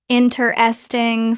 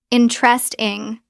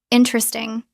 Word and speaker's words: interesting: Interesting looks like interesting four syllables. Natural pronunciation interest. Drop the first e. Interest two syllables. Natural pronunciation. Interesting. Drop the first e. Interesting. Three syllables.